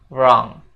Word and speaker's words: wrong: Nah untuk pengucapannya sendiri kata wrong itu w-nya enggak diucapin ya guys jadi kita cuma ngomongnya wrong jadinya kayak gini guys